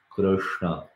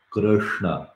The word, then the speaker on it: Krishna: is a controversial sound many people will pronounce it differently even in india if it goes uh to some place they will say and in some other place they will say so they will say this letter you know is so famous that it's also there in the name of krishna so i see this one here krishna krishna so some people will say krishna because they are